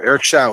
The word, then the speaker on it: Eric Show: Remember, Eric Schau, it's spelled Eric Show, kids. Now it's Schau, S-H-O-W.